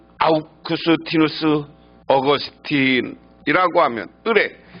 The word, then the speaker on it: 아우구스티누스: 하나는 성 아우구스티누스, 우리가 흔히 이름은 라틴어로 얘기하면 성 아우구스티누스라고 하고요. 우리식으로 영어식으로 하면 어거스틴을 이렇게 발음합니다. 어거스틴의 어머니 모니카와 네로 황제 어머니 아그리피나가 그들입니다.